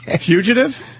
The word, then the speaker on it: fugitive: that's the best part I had no idea I was mispronouncing it that whole time until Anthony brought it up fugitive fugitive there